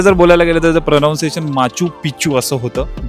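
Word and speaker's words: Machu Picchu: आहे इंग्लिश मध्ये जर बोलायला गेल तर प्रोनाउन्सशन माचू पिचू असं होतं जे की अस ऐकायला म्हणजे खूप वेगळ वाटत पण मराठी मध्ये जे प्रोनन्सशन आहे ते आहे मास्कू पिचकू पंधराव्या शतकातील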